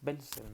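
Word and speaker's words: Welzel: Acuérdense, se escribe como Belzel, pero se pronuncia con W, pero se pronuncia con V. Es Hans Belzel, ¿no?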